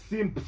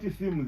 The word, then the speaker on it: Simps: Simps, not Sims.